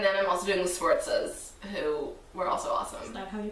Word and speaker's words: Sforza: And then I'm also doing the Sforzas, who were also awesome. Is that how you pronounce it? Yeah. I've never known. Sforza.